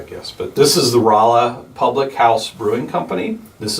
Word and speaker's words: Rolla: rolla it does now my mom calls it rola she doesn't know how to pronounce it every time i correct her she's like it's roloff yeah this is uh well